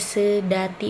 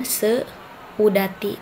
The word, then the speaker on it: seudati: Nah, sedati juga dibacanya se, jadi tidak dipenggal antara e dengan u-nya. Tetap aja sedati, bukan seudati, tapi sedati.